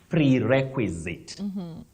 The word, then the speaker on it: prerequisite: tried so nicely but the pronunciation of that word is prerequisite prequisite prerequisite that is